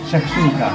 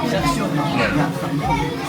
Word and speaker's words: shakshouka: Shakshouka. Shakshouka.